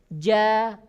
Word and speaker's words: ج: Yang pertama, karakter ya huruf jim adalah tipis. Ja tipis. Ya, tidak boleh ditepalkan. Ja. Tidak ya. Ja, gi.